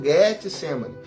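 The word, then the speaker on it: Getsêmani: Jardim do Getsemani né porque a pronúncia correta é essa Jardim do Getsemani ele sai para o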